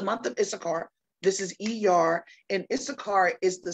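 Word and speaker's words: Iyar: are in is called the month of er er that is spelled i y a r e r all right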